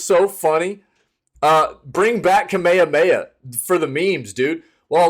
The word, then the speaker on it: Kamehameha: videos about fortnite and calling it like all kinds of crazy kamama mama and stuff like that it was like come